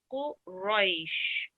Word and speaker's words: قريش: So when it has a fatha on it, you need to pronounce it in a thick manner. So لإلاف قريش. Okay, with a rounded mouth.